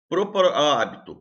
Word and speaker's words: hábito: Hábito, proparoxítono. Né? A sílaba tônica é antepenúltima, é terceira de trás para frente.